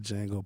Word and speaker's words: Django: And the D is silent in Django. Stop saying to Django, please.